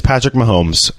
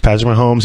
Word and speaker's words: Patrick Mahomes: It's Patrick Mahomes. Okay, guys, it's Patrick Mahomes.